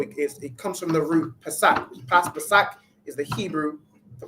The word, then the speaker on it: Pesach: All right, and the word is Pesach. All right, Pesach, which we all know is the Passover.